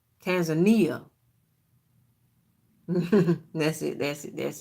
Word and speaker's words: Tanzania: Tanzania Tanzania I think I'm saying it wrong Tanzania that's it that's it that's it as a